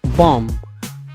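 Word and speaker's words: bomb: يتسلق الكلمه الخامسه هي بام بام فيها بي فلافان كتعني قنبله ولكن ماتينطقش الكلمه الثالثه اللي هي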